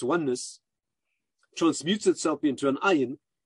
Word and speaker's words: ayin: transmutes itself into an ayin. By the way, aleph is a silent letter. Ayin is a guttural letter, is already expressed in the material world.